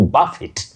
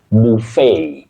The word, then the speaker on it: buffet: Now the next word is from French, and that t at the end is only pronounced when you use this word as a verb to eat very hard, to buffet, buffet.